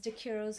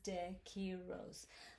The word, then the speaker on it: DeQuiroz: the way i'm mrs dakiros in case you forget how to pronounce this mrs de kiros let's sing together ready